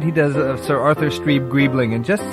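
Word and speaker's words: Streeb-Greebling: I'm so sorry yes my name is stre gribling the tea is silent as in F I'm um I would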